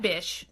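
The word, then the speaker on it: Bich: His last name is B-I-C-H, which I would have pronounced bitch. Like, that bitch bought our patent, right? I'm not saying B-I-T-C-H. I'm saying B-I-C-H. Like, bish, please.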